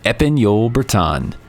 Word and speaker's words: Épagneul Breton: Trinity Bretons is the home of the Épagneul Breton.